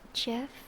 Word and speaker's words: GIF: It's pronounced Jiff. Whatever. I pronounce it depending on my mood, you know? I'll say GIF and GIF.